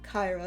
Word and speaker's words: Kyra: I said it wrong. I combined Kira and Lyra. There we go. Kyra, that's her name.